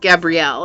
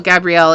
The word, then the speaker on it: Gabriel: you this is Archangel Gabrielle and so this could be having to do with writing cuz Archangel Gabrielle is the or Gabriel depending on how you say it but Archangel Gabriel is